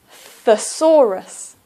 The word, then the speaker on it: thesaurus: dictionary is a thesaurus the saw Rus and the stress is on the second syllable thesaurus and AFAA Saurus is